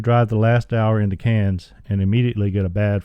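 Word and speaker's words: Cairns: listeners the town of cans is spelled like a rock k c a i r NS but in Australian it is pronounced like cans of soup we go to the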